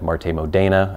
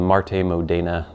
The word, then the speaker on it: MarteModena: saying Marte Marte Modina Marte Modena I think that's how you would actually pronounce it in Italian it is made out